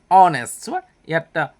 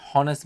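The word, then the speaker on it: honest: কি হল হোমপজন কি হল মানস কাইন্ড জেনারিউস অনেস্টটা হস য় অনে হয় সাইলেন্ট লেটার হয় অনেস কিন্তু আমি যেটা পড়ি মনটে হনেস বলি পঠ আর উচ্চারণ করে অনেন্ড লাভ বাই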